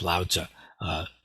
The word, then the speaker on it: Lao Tzu: in the class because the pronunciation of this character in Mandarin is something like Lao. And it's actually the first part of the name of one of the most famous philosophers in world history, Lao Tzu, or Lao Tzu. More correct modern, at least modern Mandarin pronunciation is Lao Tzu.